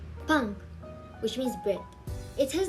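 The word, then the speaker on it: 빵: For example, pang, pang, which means bread. It has the same pronunciation whether it was the first consonant in the syllable or the second one.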